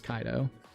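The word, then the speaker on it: Kaito: So like I can't blame you if you do like Ko instead of uh Kaido. I I think it's Kaido though. I'm pretty sure it's Kaido, right? I've heard people say Kaido. So, it's Kaido.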